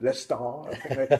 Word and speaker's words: Leicester: born and bred in Leicester yeah stuff good stuff Lester that's how the locals pronounce it yes sir good stuff